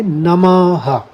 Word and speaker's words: नमः: ये अगर दो बिंदु हैं और इसके आगे कोई भी शब्द नहीं है तो हम खाली ह लगा देते हैं। तो हम इसका उच्चारण करेंगे नमः, ह आएगा।